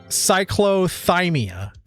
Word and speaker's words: cyclothymia: It's pronounced cyclothymia.